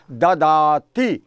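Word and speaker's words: ददाति: और दा का जब संस्कृत भाषा में हम पाली भाषा में प्लुरलाइजिंग करते हैं तो इसका प्रोनाउंसिएशन होता है ददाती।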